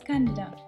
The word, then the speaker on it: Candida: food plant-based and vegan Candida diet. Yes, it's CAndida and not CandIda, the way I've been pronouncing it until this day.